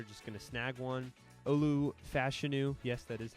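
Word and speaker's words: Olu Fashanu: I think they're just going to snag one Olu fashion yes that is how you pronounce it out of Penn State was projected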